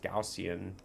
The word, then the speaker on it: Gaussian: Now, taking a look at the Gaussian, it's pronounced Gaussian, channel on the weekly, I mean, there's nothing bullish about this.